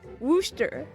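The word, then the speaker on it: Worcester: You're supposed to pronounce it worooster which I don't know where the rest letters in that word go but it's wor I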